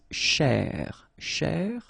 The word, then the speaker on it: chercher: So this first part here, C-H-E-R, you will pronounce it quite open, so it's cher, cher, okay? And then here, just because you've got this ER at the end, okay? If you remember, the rule goes like ER at the end will be pronounced E, okay? So you get chez, all right? So chercher, chercher, okay?